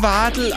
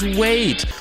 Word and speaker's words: Wade: Den spricht man gar nicht Wardl aus. Das ist American und man spricht das Wade.